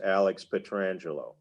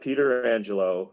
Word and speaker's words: Petrangelo: will say this that if you ask alex petrangelo how he pronounces his name he will tell you it's alex petrangelo it's not peter angelo it's not petra angelo or any other kind of bastardization of the name it is alex petrangelo